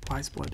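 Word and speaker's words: Weyes Blood: And Wiseblood is spelled W-E-Y-E-S.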